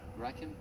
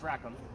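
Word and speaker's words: Rackham: were wondering what's that ra him mhm red ra him the red no yeah you're right on the name it's rackam like rackam is the way it's spelled so I got order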